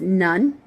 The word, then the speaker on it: Nun: Next part is none, like in Joshua, son of Nun.